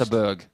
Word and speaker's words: Göteborg: Gothenburg goes mental. Is that how they say it in Third leg is Sweden? Because Jim I to heard it throw was first. Göteborg.